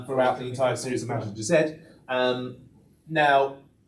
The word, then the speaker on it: Mazinger Z: It is Mazinger Z, because that's how they pronounce it in the Japanese as well.